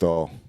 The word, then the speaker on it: Ballistol: How you Oh, pronounce it? Ballistol.